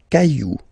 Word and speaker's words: cailloux: Then, un caillou, plural, des cailloux. Okay, remember, you don't pronounce it, the final X.